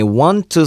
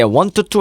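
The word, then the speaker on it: want: on tissue 아 아이 원트 수 있는 어 아이 원트 t12 는 뭐 하고 싶다 라는 얘기 했잖아요 없고 발음할 때 원투 하지 말고 원트 원트 1t 5 io 원조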